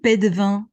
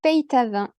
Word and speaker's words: Peytavin: Alors, il se prononce en réalité Peytavin. C'est un nom qui est lozérien. Voilà, donc on prononce le Y et la plupart des